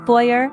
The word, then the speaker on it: Feuer: They sound like the English oi in boy. You'll find them in German words like Feuer and Hauser.